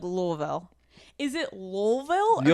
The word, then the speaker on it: Louisville: Louisville? You almost got it. I'd say locally it's the Ville is more Vul. Vul. Louisville. Louisville. Louisville. Louisville. Yeah. It kind of just like in the throat.